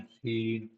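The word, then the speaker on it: Seine: ठीक है, या फिर सीन रिवर बोल सकते हैं, प्रोनाउंसिएट राइन सीन।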